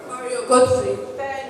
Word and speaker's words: Mario Götze: Mario Götze.